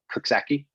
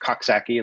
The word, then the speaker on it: Coxsackie: hudson called uh the town is uh kuksaki or you might want to pronounce it coxsackie like the skin thing but um and and